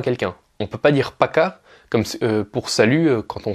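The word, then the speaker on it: пока: le a c'est à dire que c'est pas poca mais paca et donc le fait qu' on insiste sur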